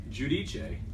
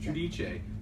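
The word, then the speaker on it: Giudice: I'm trusting the pronunciation that Patrick uses. Judice. Correct. Which I actually got from Teresa on Watch What Happens Live when they asked her, and she Yeah. said, well, it's really pronounced Judice.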